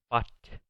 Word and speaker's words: bought: La U, G, H en medio de esta palabra no se pronuncia. Esto se pronuncia bought, que es el pasado de comprar.